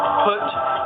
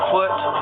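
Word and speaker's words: Phut: nothing to do with put or as Sometimes some people pronounce it or spell it p h u t foot it had nothing to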